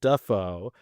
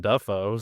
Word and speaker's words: Dafoe: Defo as well because when his career originally started, uh, he was using Defo and now uses Duffo. And apparently it's a huge like back and forth in his family about what the correct pronunciation is. Uh Deo does not have the Hollywood glamour pizzazz. That's probably why he switched it up maybe cuz everybody else was already saying it. Duffo. So yeah.